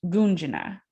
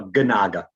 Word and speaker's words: Gunaga: friend um dr gunjana did i pronounce that correctly no not quite actually a statistic you know no ganaga ganaga i apologize it's okay